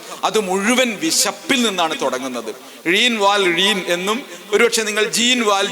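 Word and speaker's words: Jean Valjean: വലിയ ബൃഹത് ഗ്രന്ഥം അത് മുഴുവൻ വിശപ്പിൽ നിന്നാണ് തുടങ്ങുന്നത് ഴീൻ വാൽ ഴീൻ എന്നും ഒരുപക്ഷേ നിങ്ങൾ ജീൻ വാൽ ജീൻ എങ്ങനെ വേണമെങ്കിൽ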